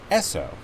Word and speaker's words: Esso: stations are still called Esso they were called s/o in the US for the phonetic pronunciation of s and O for Standard Oil which is how Rockefeller